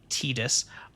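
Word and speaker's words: Tidus: You know, it's just it it stars of course uh the main character is Tetus, pronounced Tetus.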